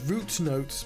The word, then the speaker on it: Root Notes: Bout is so I work for a company called Root Notes, pronounced root and not route.